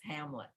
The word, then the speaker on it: Hamnet: judith and hamlet and it's spelled in the old english-spelling hamnet but it is hamlet and the twins contact